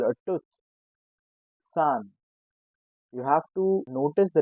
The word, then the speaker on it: Zahn: It has Z, but we pronounce it with S. Arzt. How do you call a tooth? Zahn.